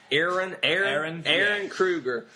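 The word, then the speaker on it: Ehren Kruger: How do you pronounce this, Andrew? EHREN. Aaron Kruger.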